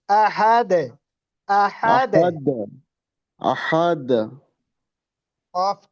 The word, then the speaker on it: أحد: হ্যাঁ শহীদ ভাই, আপনি ওই যে আহাদ দালের যে কলকলা, দালের জি। কলকলাটা একটু নিচের দিকে যাবে। আহাদে, আহাদে। أحد، أحد.